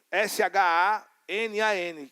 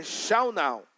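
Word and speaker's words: שנן: Então, esse verbo ensinar no hebraico, você segura aí, é shanal, que é S-H-A-N-A-N, que é shanan, mas na Strong's a pronúncia é shaunal, que significa inculcar, internalizar, ser incisivo.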